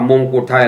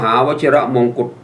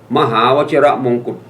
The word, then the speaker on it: มหาวชิรมงกุฎ: ย่อ อยู่ 3 ตัว มวม ไม่ อ่าน ว่า มงกุฎ ไทย แล้ว ให้ อ่าน ว่า มหาวชิรมงกุฎ ไม่ มี คำ ว่า ไทย เอา ใหม่ นะ มวม มหาวชิรมงกุฎ มปช นี่ สาย สะพาย